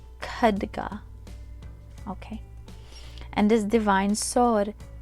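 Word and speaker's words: खड्ग: using you're using your kadha kaduka sorry kaduga hopefully i'm saying it correctly because when you speak foreign languages in this case this is my foreign language here if you mispronounce uh even a syllable it could change the meaning of the term so it's khadga okay and this divine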